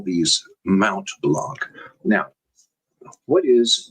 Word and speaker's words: Mont Blanc: Okay, the French pronunciation is Mont Blanc, where the T is silent. But I'm not French, and I don't have a French accent, so I'm not even going to try that.